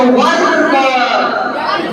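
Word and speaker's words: verb: क्योंकि भाई are silent हो गया तो वर्ब।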